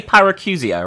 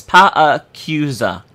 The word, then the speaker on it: Paracusia: So I'd say Paracusia, right? But it's not. It's Paracusia. Which is weird.